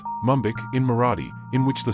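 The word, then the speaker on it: Mumbaikar: controversial a resident of Mumbai is called mumbiker pronounced mumik in Mora in which the suffix car means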